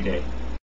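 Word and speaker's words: dili: no which is D it's spelled D i l i but say it as if it's a e as an egg D next word is yes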